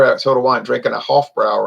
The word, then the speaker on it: Hofbräu: I just picked up some beer at Total Wine, drinking a Hofbrau right now. Hofbräu. A German woman told me it's pronounced Hofbräu.